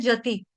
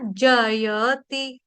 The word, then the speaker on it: जयति: चाहता है गलती से जति जति जति नहीं है या फिर कई बार गलती से जयति बोल देते हैं जति जयति भी नहीं है जति भी नहीं है क्या है जयति जयति य का उच्चारण खास तौर पे साफ-साफ होना चाहिए स्पष्ट के साथ स्पष्टता के साथ जय ती ऐसे उच्चारण करना है ती की मात्रा जो है वो छोटी इ की मात्रा यानी कि ह्रस्व मात्रा जयति ते धिक त